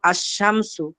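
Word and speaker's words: الشمس: এই হরফগুলো যেগুলো আছে যেগুলো লামটা উচ্চারণ হয় না, এই হরফগুলো আলিফ লামের পর আসার কারণে এই হরফগুলোকে বলে আল হুরুফুশ শামসিয়া। যেমন আশ-শামসু, আশ-শামসু, যেখানে শামসু অর্থ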